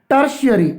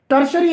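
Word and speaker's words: tertiary: इसका साउंड और जो इसका प्रोनाउंसिएशन है टर्शियरी। जी हाँ, टर्शरी एजुकेशन।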